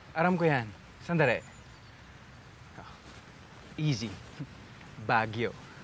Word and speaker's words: Baguio: Baguio. Baguio. Accent on the second syllable.